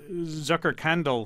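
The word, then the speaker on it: Zuckerkandl: the Zucker we talked about the salons the Zucker candle Salon did I pronounce that correctly very well I like that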